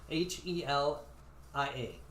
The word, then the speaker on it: Helia: Helia Helga Helia Helia h e l i a Helia like helium but without the am yeah correct so we